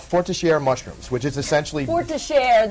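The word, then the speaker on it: Forestière: Forestiere, that's how you say it.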